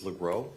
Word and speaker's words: Legros: Last name is Lro. That's L E G R O S. I apologize for mispronouncing it. Lro.